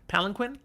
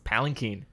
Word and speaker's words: palanquin: men okay this word this word palinquin you're saying it wrong is it palanquin it's palinkin really i i've never